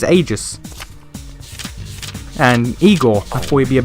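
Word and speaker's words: Aigis: pounding into my head the Japanese pronunciation of her name is ages and Igor actually be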